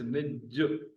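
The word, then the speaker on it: نج: Pure in Sindhi is निज। निज, नून पर जेर, जीम पर पेश, छोटा सा लफ्ज, लेकिन ये अपनी प्योरिटी शो करता है।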